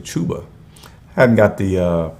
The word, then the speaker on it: Chuba: about the rushing and chubber hubbard man i said his name wrong it's actually chuba i haven't got the